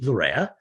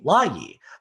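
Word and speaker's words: Laryea: He first said Richie Larea, and then he changed, no, I want to do that again. And he said Richie Layi, because this is the traditional or the proper Ghanaian pronunciation of his last name.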